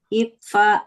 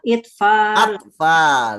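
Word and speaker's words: أطفال: Tibla Itfal. Atfal. Oh, ak ya. Atfal. Naam. Tiflun Oh, atfal. atfalun. Bukan itfal ya Nah, bacanya. atfal.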